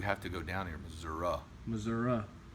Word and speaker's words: Missouri: to go down here Missouri Missouri uh not so long when the esses I'm doing that to show you how to say it Satan is zero zero